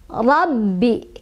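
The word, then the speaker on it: رَبِّ: Ba-nya ada tasydidnya. Jadi cara bacanya adalah kita tekan Rabbi. Kita tekan sedikit ya, Rabbi. Tapi jangan ditahan juga. Rabbi, cukup ditekan aja.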